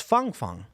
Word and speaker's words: Feng Feng: It's Feng Feng, in fact. It's Feng. That's how you pronounce it. Oh, no, not Fang Fang.